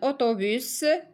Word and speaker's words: autobus: Un autobus, S, 1.